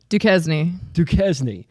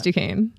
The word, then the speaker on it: Duquesne: It's spelled like what? Duquesne. But it's Duquesne.